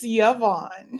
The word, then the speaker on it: Yvonne: Oh, actually, I should ask you, do you pronounce it Yvonne, Yvonne, Yvonne? What's your name? It's Yvonne.